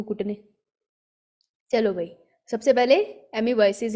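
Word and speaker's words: amoebiasis: एमीबॉयसिस में ओ होता है साइलेंट। फिर भी मैं एमीबॉयसिस पढ़ लेती हूँ, दैट इज रॉन्ग। एमीबाइसिस, एमीबाइसिस और मलेरिया पढ़ेंगे।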